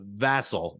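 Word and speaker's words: Vasil: and by the way it's a vassal Mike vasel is the pronunciation um language of origin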